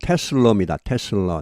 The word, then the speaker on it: Tesla: 테슬라는 이 발음은 테슬러입니다. 테슬라가 아니고 테슬라. 이 A 발음이 아주 약하게 돼서 모든 모음은 약하게 되면 이렇게 이렇게 되면 테슬라는 expect 예상한다.